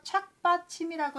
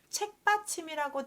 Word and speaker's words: 착받침: 받침이다 라고 하는데 쉬엄쉬엄 갈착이 와서 착받침이라고 읽어야 되는데 사람들이 착받침을 발음을 듣기에 뭐라고 들렸냐면 책받침이라고 들려서 우리가 책받침이라고 읽고 있고요.